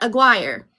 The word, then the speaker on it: Aguirre: With that being said, I my great my last name is pronounced aguire. Here it's actually a gir and it's supposed to roll the Rs because my great-grandfather immigrated here from Spain.